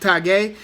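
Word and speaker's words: Tagoe: It's spelled Tago, but he's from Ghana. I think it's pronounced Tagué.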